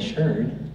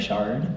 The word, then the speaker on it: sherd: every place you find a sherd, or a shard, depending on how you want to pronounce it, you'll see in those low spots, they concentrate.